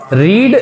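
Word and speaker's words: read: रीड जो होता है वो उसका सेकेंड फॉर्म रेड हो जाएगा। प्रोनाउंसिएशन में रेड है वो, लेकिन स्पेलिंग में वही।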